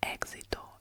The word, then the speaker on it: éxito: The first syllable is stressed.